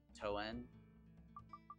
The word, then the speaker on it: Toan: the Chris knipe again I found a pronunciation toen it's toen oh the robot says toan toan toan it's me